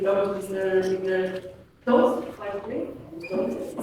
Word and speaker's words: Tóth: Tóth is the pronunciation. Yeah. From Hungary. Hello everyone and welcome, and I'm happy that you stayed for the second day as well. My name is Tóth.